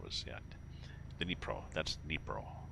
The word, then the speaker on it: Dnipro: That's Dnipro. Spelt like it's pronounced.